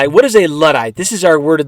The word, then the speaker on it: luddite: a luddite this is our word of the day a